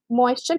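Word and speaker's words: moisture: मॉइस्ट से, right, मॉइस्ट, जब हम मॉइस्ट बोलेंगे तब हमारे पास ट की साउंड आएगी लास्ट में, मॉइस्ट, राइट, पर जब हम मॉइस्चर बोलेंगे दैट बिकम्स च, क्योंकि ये वाला आ गया हमारे पास पूरा, राइट। तो यहाँ पर ट की साउंड आएगी बट यहाँ पर इट बिकम्स चर, ओके।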